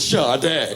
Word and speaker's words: Sade: that singer sha well my name is spelled Sade but I pronounce it sha great my name's Dennis